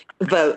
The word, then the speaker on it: Vote: of your last name vote like you're GNA vote for someone vote okay I just wanted